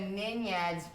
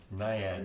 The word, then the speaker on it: Naiad: and then she told me that a Ninyad's like humanoid. Is that true? A what? The Ninad that she can summon? That's exactly how I pronounce it. I have never heard of a Ninad. Naiad.